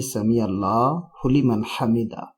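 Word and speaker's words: سمع الله لمن حمده: اس کا تلفظ کیا ہے، تو اس کا تلفظ یہ ہے کہ سمیع اللہ لمن حمیدہ، یہ اس کا درست تلفظ ہے، اس طریقے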